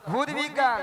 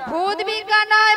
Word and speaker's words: ভৌত: ভূত বিজ্ঞান, ভূত বিজ্ঞান নয়, বলো ভৌত বিজ্ঞান।